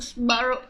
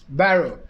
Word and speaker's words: Sbarro: Magpagalit lang siguro kog sbaro. Ay, ang sa pag-pronounce ang sbaro? Barrow. Baro. So, apparently, ang sbaro is baro pag-pronounce. Pakunta na si Mark Lawrence Bautista.